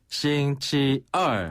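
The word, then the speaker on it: 星期二: 싱치얼. 한 번 더. 싱치얼. 싱치얼. 네, 이때 얼은 위에서 아래로 뚝 떨어지는 음입니다.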